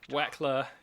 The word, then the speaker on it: Wechsler: the noose tightening here Wechsler I like that almost rhymes with flexing every time I'm like rekkles as flexing waxey flex its like I really want that to rhyme but it doesn't but yeah wykel is